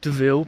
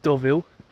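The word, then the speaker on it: Deauville: we are here in what I would call DeVille but I think it's probably pronounced doville at least that's what the Google Maps lady says doville um yeah we're going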